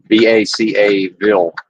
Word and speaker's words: Vacaville: Vacaville. And it is pronounced that way locally.